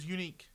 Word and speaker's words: Eunike: We started a band called Unique, which is spelled EUNIKE.